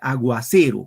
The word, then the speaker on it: aguacero: Fíjense, aguacero. Cuando digo aguacero, el acento va en C.